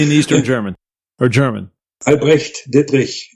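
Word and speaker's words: Albrecht Dittrich: Albrecht Diedrich. The Dich sound is a tough one for American speakers.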